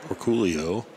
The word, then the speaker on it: Orcollo: four in a row or Colo or in the Filipino pronunciation or Coolio bamboni one three or